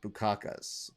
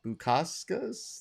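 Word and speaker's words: Bukauskas: 2020 with modesto or bukakus bukaskas that's how you say his name not enough drinking on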